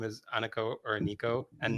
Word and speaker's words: Aniko: Okay, for many years, I mispronounced my own name, Which as, is as Aniko. But then I realized that my mother was correct when she said, I gave you a beautiful name and you've been mispronouncing it your entire life. It's Aniko.